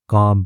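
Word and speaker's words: calm: तो वो क्या है काम है ठीक है तो एल साइलेंट होता है इसमें सीरियसली मतलब गंभीर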